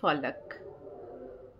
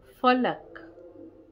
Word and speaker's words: ফলক: পড়বো কবিতাটির নাম হচ্ছে ফলাক ফলাক ফলক তোমরা শুনেছি তো ফলক কথা সেটা অনেকে আছে ফালাক বলে এটা বাংলায় উচ্চারণ যেহেতু ফলক তুমি আসলে একটা হেরে